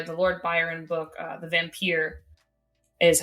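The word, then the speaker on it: The Vampyre: Lord Byron book uh the vampire is how I'm gonna pronounce it because it's spelled with the Y um was one of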